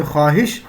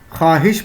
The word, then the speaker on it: خواہش: وہ واو جو لکھا تو جائے لیکن پڑھا نہ جائے، جیسے خواہش، تنخواہ. لکھا تو جا رہا ہے خواہش لیکن پڑھا نہیں جا رہا، خواہش پڑھا جا رہا ہے.